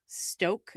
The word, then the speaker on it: Stauch: the defendant is called Leticia Stauch, is I believe how they pronounce her last name.